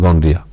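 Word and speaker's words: gonorrhea: Examples इसका देखिए क्या क्या एग्जाम्पल है, इंक्लूड्स गोनरिया, देखो स्पेलिंग गोनरिया, इसको गोनरिया पढ़ेंगे, समझे, गोनरिया एंड सिफिल्स, गोनरिया एंड सिफिल्स, ये क्या है, एसटीडीज है।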